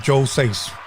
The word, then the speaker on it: Joe $eis: Please help me welcome, once again, Rowdy Bluee and Joe Seis.